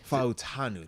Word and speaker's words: Fautanu: Fautanu.